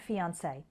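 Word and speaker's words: fiancée: it's a cliche fiance two more words that end in this a sound are fiance and fiance they're spelled differently but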